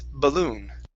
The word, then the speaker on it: balloon: The stress is on the end of the word. Instead of balloon, it's balloon.